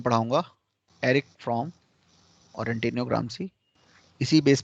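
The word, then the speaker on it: Erich Fromm: एरिक फ्रॉम। अब ये German नाम है, स्पेलिंग आपको ऐसे ही लिखना है, उच्चारण जो मैं कर रहा हूं वही करना है।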